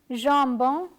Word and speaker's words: jambon: For example, ambulance, jambon, lampe. Therefore, the following letter combination AN and AM have the same ah sound.